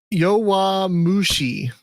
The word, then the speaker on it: Yowamushi: How the hell do you spell it? Sorry. Yowamushi.